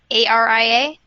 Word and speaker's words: ARIA: Yeah, like I thought I had an idea what it meant, especially with is it pronounced ARIA? A-R-I-A?